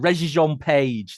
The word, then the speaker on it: Regé-Jean Page: I can never pronounce it. Regé-Jean Page.